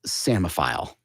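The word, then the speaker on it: psammophile: h i l e which is more easily pronounced as sfile okay wow but not spelled samile okay what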